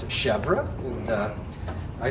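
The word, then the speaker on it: chèvre: often asked what do you pronounce it you pronounce it chevra and uh i say well we're americans we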